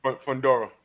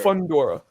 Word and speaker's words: Fundora: Fedora, how do you pronounce his last name? Fundora. Yeah. Fundora.